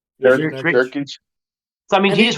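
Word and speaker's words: Nurkić: It's Jurek? How do you say his name? Nurkic.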